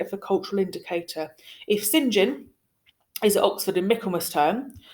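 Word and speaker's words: St John: is your first name it is pronounced sin gin like si n jom Sinjin it's a very very old-fashioned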